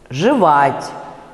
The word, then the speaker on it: жевать: и опять после ц на месте ударного э произносят звук, опять уже известный, звук и с призвуком э. Ну то есть шепчет, там у вас э под ударением, да? Шептать, шептаться, вот между и и э. Целует, жевать, вот именно так, да?